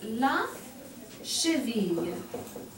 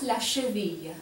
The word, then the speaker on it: cheville: Ankle is la cheville. The double L here is pronounced like a Y. Oui, répétez classe, la cheville.